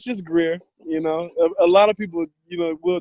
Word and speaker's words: Greer: You don't pronounce that grr like a lot of people up there? Nah, it's just Greer.